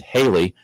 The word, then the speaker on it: Haley: director Bob Johnson suggested Haley rhymes with Bailey take advantage of the